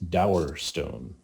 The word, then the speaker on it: Dowerstone: However, the proper pronunciation is Dowerstone. Ah, Dowerstone.